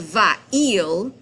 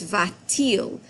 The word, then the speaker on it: va-t-il: So instead of va-il, it's va-t-il. The T is there only for pronunciation purposes.